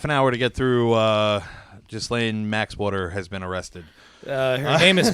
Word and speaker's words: Ghislaine: Is that how you pronounce it? Ghislaine, yeah.